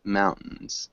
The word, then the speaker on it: mountains: a tough one um we often kind of Silence the T mountains mountains mountains we have